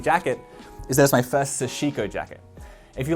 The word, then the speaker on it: sashiko: video when i first got it and i mispronounced it as sha seeker or sha but it's sushico is the correct pronunciation it means little stabs